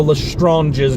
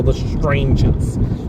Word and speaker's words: Lestranges: Also, I call them the Lestranges, not the Lestranges.